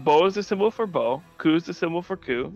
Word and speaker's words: beaucoup: is the symbol for beau coup is the symbol for coup you all say beaucoup its bow and then coup that